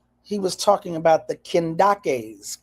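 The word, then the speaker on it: Kandake: He was talking about the Kendakes, k e n d a k e or k a n d a k e, sometimes called or pronounced the Candaces.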